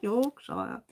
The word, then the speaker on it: Yorkshire: Yorkshire.